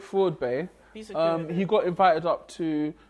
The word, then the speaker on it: FraudBae: of vowel starts so Floyd Bay and I feel really weird cooling a man babe Freud Bay Floyd babe to say it properly fraud bank fraud fraud Bay he got invited up